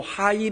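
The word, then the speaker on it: Heil: 표현하면 그 하이는 h입니다 정확히 발음하면 독일어를 정확히 발음하면 하이가 아니고 하일 있니다 하일 그래서이 자료를 찾아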